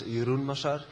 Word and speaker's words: Jeroen Massar: Uh so I'm D Maser uh or uh in Dutch I would pronounce it as Yurun Masar.